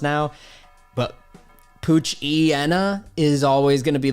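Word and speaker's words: Poochyena: But Puchiena is always going to be the way that sounds right in my brain. Puchiena, Mightyena makes sense versus Puchaina and Mightyena.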